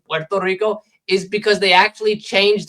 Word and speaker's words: Puerto Rico: The reason why you say why why Americans say Puerto Rico instead of the proper pronunciation Puerto Rico is because they actually changed the spelling to